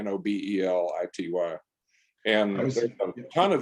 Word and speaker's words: Nobelity: It's spelled like Nobel laureate, Nobelity.